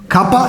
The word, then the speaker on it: kappa: Another one we need to understand is we need to know what is called the kappa. Kappa is written like this. This one is kappa. Kappa, it appears like a K in the English,